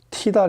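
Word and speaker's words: Tidal: 그 빈베르크는 저희가 전에 티달 이제 뭐 독일에서는 티달이라고 발음하는데 이 타이달 스피커 보신 적 있죠?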